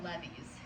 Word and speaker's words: levee: next week, are natural levees. This word is pronounced levee. It's like, you know, the song, drove my Chevy to the levee was dry.